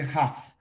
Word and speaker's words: half: No se pronuncia la letra L de Lima, no se pronuncia. Simplemente half, no half. Half.